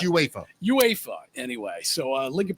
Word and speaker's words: UEFA: It's UEFA. Oh, is that what it is? UA pronounce it UEFA.